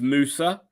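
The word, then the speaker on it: Musah: I think actually, to say his name correctly, it is Musa.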